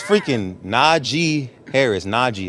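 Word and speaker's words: Najee: I going tweet out it's na G not n j it's Naj it's it's important you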